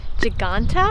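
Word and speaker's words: Ġgantija: i believe it's pronounced giganta like giant or like gigantic it's also a unesco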